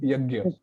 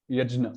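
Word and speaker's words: यज्ञ: are really getting it difficult, just go with yagya, and so on. Like gya. Ягия. Yeah, that's Yagya. like the safe line. So яг илүү найдвартай шүү гэж. эсвэл яжна. Some they say it like that. Yajna.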